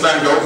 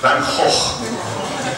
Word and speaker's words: van Gogh: Vincent van Gogh painted this. There he is right there. Any Dutch people here want to give us the correct pronunciation of his name? Van Gogh.